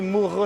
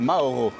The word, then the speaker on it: Mauro: C'est Moro son prénom les gars. Son vrai prénom c'est Mauro.